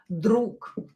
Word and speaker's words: друг: You can hear that I don't pronounce g here. I don't say друг, друг, because it's a little bit complicated to say that. So g, voiced consonant, will be unvoiced, will become unvoiced k. K.